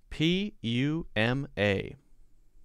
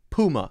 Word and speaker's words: Puma: people pronounce it as puma puma puma yes puma so maybe if you say puma it's okay i've always said i've always called this puma poo instead of pew poo instead of pew